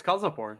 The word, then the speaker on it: Kacapor: He's fighting against Moreno Kacapor, or is it Kacapor? I think it's Kacapor. Yeah, I think you nailed it.